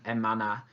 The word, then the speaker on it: hermana: when we're doing it particularly in the last two in a manner and amana remember not to pronounce her okay oui bien okay